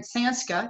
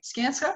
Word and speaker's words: Skanska: um robert is the ceo of if i pronounce it right sanska is that right skanska yeah that's richard from skanska richard from richard